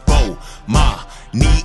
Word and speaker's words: Bomani: announcements imma say my name so you can pronounce it oh ma me are my shout out to early advisors I